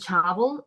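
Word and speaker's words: chawal: is um lentils and chavel it's spelled c h a w l but it's pronounced like chavel like with a V okay so it's do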